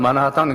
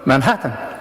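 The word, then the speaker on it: Manhattan: 예를 들면은, 여기 뉴욕의 마나하탄, 우리 한국 사람 마나하탄 그런데, 마나하탄 그러면 미국 사람은 못 알아들어요. 미국 사람은 만하탄 그래야 돼.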